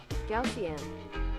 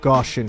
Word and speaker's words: Gaussian: How do we say that pronounce Gaussian? Gaussian. Gaussian. Gaussian. Gausian. Gaussian. Man, I've been saying it wrong for a really long time. I've been saying Gaussian. Goshion for a really long ass time.